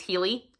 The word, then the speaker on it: Heli: We also follow, I pronounce it as Heli. It's H-E-L-I. Maybe it's Healy, but however you guys want to pronounce it.